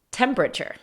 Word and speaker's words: temperature: La palabra temperatura en inglés se pronuncia, inglés americano, por cierto, temperature. Temperature. Y ya cuando no lo estamos pensando mucho, temperature. Suena igual, ¿no?